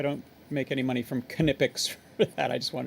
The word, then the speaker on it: Knipex: So yeah, Knipex. I think that's how the Germans pronounce it.